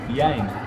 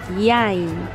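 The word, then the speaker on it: יין: ¿Sabes cómo se dice vino en hebreo? ¿Cómo? Yain. Yain. Yain. Yain. Exacto.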